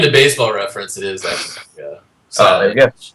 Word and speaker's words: Hechavarria: Is it the H silent in Hechavarria? It's Echevarria. No.